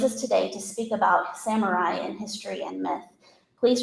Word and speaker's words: samurai: throughout my presentation today I'll be using the westernized or Americanized version of the pronunciation of the word Samurai uh if we were using Japanese it would be samurai but what's happened is the